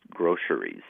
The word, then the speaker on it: groceries: we're talking about g-r-o-c-e-r-y you can pronounce it with two syllables or three syllables and you can pronounce it with an s in the middle or a sh and like an sh